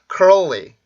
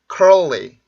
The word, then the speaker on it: curly: 자, 그러면 여기에서 이제 R 발음하고 L 발음이 연속되는 단어들 요런 것들이 있죠. 뭐 early, world, curly 이런 단어가 있는데 여기는 발음기호상으로 다 R, L 발음이 연속적으로 되어 있어요.